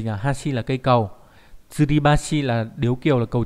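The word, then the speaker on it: 吊り橋: Thì âm cương đọc là Hashi hoặc là Bashi, ví dụ trong từ Hashi là gì nhỉ, Hashi là cây cầu, Tsuribashi là điếu kiều, là cầu treo.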